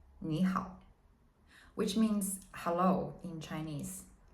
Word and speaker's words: 你好: But when two characters of the third tone are put together, we change the first character to the second tone, so it's easier to pronounce. So in this case, we would say 你好 instead of 你好, which is longer and less convenient, right?